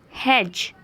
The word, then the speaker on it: hedge: Fifth one is hedge. Hedge. D is silent here.